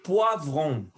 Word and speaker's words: poivron: Le poivron, O-I, son OA. Le poivron, et faites attention à la prononciation du V.